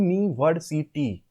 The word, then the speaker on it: university: Because university, the U is pronounced as YOO.